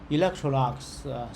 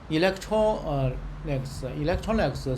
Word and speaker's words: Electrolux: Electrolux, so that the Electrolux, I think maybe the Electrolux company is come from France, so the pronunciation is similar to France.